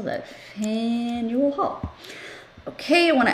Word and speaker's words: Faneuil: going to add one more oh faneuil hall fan you will do you think i can spell that you think i can remember how to spell that fan you will haul okay i want to add a little